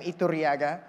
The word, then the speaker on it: Iturriaga: Again, you roll your R because we're colonized by the Spaniards, so I have a Spanish last name, Iturriaga.